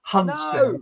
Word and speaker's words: Hunstanton: I say Hunstanton, but I'm from West London originally, so I pronounce the A in the middle, Hunstanton. No.